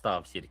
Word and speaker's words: stavkirke: That's how you Yeah, pronounce it. yeah. In Norwegian, it's Stavkirke.